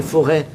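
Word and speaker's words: Forez: C'est forêt. Forêt. C'est lié à la forêt. C'est faux RZ. Ouais. Ça n'a rien à voir. Le Z se prononce pas.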